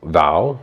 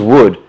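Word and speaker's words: Woud: Like, you've got the goalkeeper, Michael Val. We always thought it was Wood. W-O-U-D. I thought, yeah. But it's Val. Michael Val. According to his well, we're going to go where he pronounces it as.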